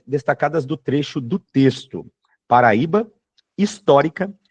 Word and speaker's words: Paraíba: Pessoal, muito fácil nesse exercício é você eliminar, por exemplo, as letras C e D, pelo simples fato de Paraíba ser uma paroxítona.